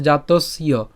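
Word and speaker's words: जातस्य: উচ্চারণটা কিভাবে করতে পারি আমরা এর উচ্চারণ করতে পারি এভাবে জাতস পর্যন্ত উচ্চারণ করে অর্থাৎ দন্তস পর্যন্ত উচ্চারণ করে জ ফলর উচ্চারণটাকে আমরা আলাদা উচ্চারণ করতে পারি ঠিক আছে জাতসীয় ঠিক আছে তবে আমরা একসাথে উচ্চারণ করবো জাতসীয় ঠিক আছে হি ধ্রুব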